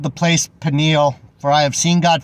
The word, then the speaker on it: Peniel: Peniel means Peniel is how it's actually pronounced.